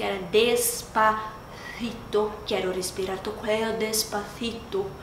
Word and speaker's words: cuello: Quero respirar tu cuello despacito. Porque quando tem dois L's, é tipo como se fosse o LH pra gente. Aí também não fica coelho. Coelho. Fica tipo coelho.